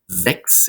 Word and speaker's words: sechs: Sechs is next, and you notice the S at the beginning of a syllable, followed by a vowel, makes a Z sound. So it's sechs, sechs, sechs.